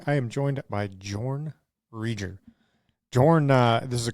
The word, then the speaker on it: Reger: Reger. I always I don't even know if I've ever said it out loud. So, yeah, we we say it rear.